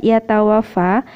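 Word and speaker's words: يتوفى: Terus kemudian yatawaffa, tadi membacanya ayat 11 yatawaffa itu tadi sempat dibaca pendek, padahal harusnya dibaca panjang, ya.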